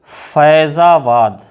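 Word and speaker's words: फ़ैज़ाबाद: फारसी से 5 ध्वनियाँ आई हैं, क, ख, ग, ज, फ, जैसे फैजाबाद, फैजाबाद। तो यहाँ जा में नुक्ता लगा हुआ है, उसका उच्चारण होता है ज, फैजाबाद।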